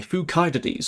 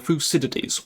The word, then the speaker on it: Thucydides: We've got the history of the Peloponnesian War by Thucydides or Thucydides, whichever pronunciation you go for.